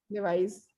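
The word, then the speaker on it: Levi's: लेवाइस। Okay, लेवाइस, जिसको लेविस बोलते हैं सब, वही लेवाइस ही नाम है उसका, लेवाइस ही नाम है उसका मैम, कंपनी का।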